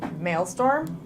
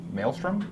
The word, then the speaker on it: Maelstrom: to cast and I don't know how to pronounce this mail storm Maelstrom Maelstrom yeah that's what I meant okay storm